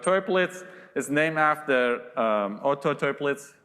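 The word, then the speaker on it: Toeplitz: matrix has a name it's called triplets sounds like a german name maybe there's a better pronunciation but toy blitz is named after auto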